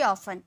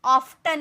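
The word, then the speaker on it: often: ऑ अक्सर यानी कि ऑफ ऑफ्टन नहीं बोलेंगे ऑफें टी साइलेंट होता है ओके वह बहुत मनमोहक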